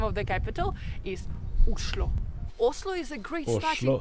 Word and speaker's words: Oslo: number 11 visit only oslo the capital of novi and actually in norwegian the right way to pronounce the name of the capital is uslo oslo is a great